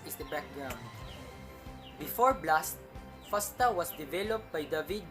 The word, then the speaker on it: FASTA: existing dna protein databases fasta is pronounced fast a and stands for fast odd because it works with any alphabet an extension of the